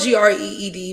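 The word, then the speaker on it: Grede: It's not spelled G R E E D. It's spelled like R E I E. Some like that. But her last name is Greed.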